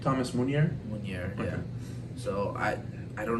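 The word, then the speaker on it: Meunier: Munier, yeah.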